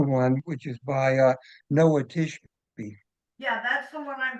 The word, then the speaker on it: Tishby: It's called Israel, Israel, and the author is Noah, Noah Tishby. Is that how that's pronounced? Yeah, Tishby. Tishby.